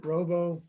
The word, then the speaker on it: RoboKiller: RoboKiller. So spell that, please.